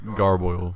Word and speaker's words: gargoyle: The word of the day was gargoyle, which is. Which rhymes with turmoil and means about the same thing.